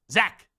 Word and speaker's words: Zach: say Z or Zach I'm like Zack so I understand it's spelled CH z c but that's clearly Zach I know some people spelled